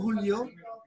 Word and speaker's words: Julio: Julio, medyo ano, tama ba ang bigkas ko ng pangalan mo, Julio? Opo, tama po.